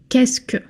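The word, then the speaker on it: qu'est-ce que: They are all put together and they are pronounced quesk.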